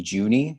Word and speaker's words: Juehne: my name is juni so it is a it's a tricky pronunciation juni uh and i'm the